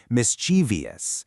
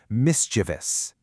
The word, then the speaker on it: mischievous: the end, making it mischievous. But the actual correct pronunciation is mischievous. You really have to keep it strictly to three beats.